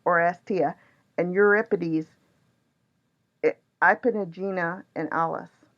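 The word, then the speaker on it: Oresteia: These stories are told in my pronunciation, Achelestes or Orchestra. Orestia. That's it, Orestia.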